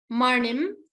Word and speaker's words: manim: Manim. Try to pronounce this na. It is not a simple na. It is na. You have to roll your tongue a little bit.